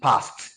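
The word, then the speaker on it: passed: example is what now each time you have consonant sound s coming last in a particular word and you have the Ed it is expected not to be pronounced past just as we have in p a s e d it is not past it is past that is why p a s and p a s s e d are pronounced and transcribed the same way so it is not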